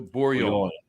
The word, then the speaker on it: Bourgogne: And now they do G's. You don't pronounce the G's at all. De Bourgogne.